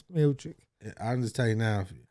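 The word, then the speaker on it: Miočić: Miocic, or however you pronounce it, Miocic. I'm thinking of Miocic, the wrestler from Indiana. It's Miocic.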